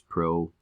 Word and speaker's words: pro: not have a nucleus pro rhymes with no so no nucleus here